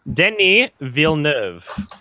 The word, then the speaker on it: Denis Villeneuve: was about to ask what is the actual pronunciation for his name do dennee or Denis Denis Villeneuve okay okay Villeneuve Ville someone who L named